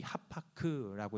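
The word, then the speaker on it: הפך: 자, 여기서 변하여라는 말에 우리가 주목해 볼 필요가 있는데요.이 히브리어로이 하파크라고 이렇게 발음을 하는데 무슨 뜻이냐면요.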